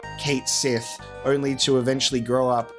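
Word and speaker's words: Cait Sith: stuff so it's like Kate she it's one of those words where it's not pronounced how it's written and it's always been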